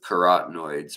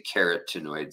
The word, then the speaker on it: carotenoids: giving them food with carotenoids or keratinoids in it I like to say carotenoids so people know it's spelled like a carrot um Jeff I'm trying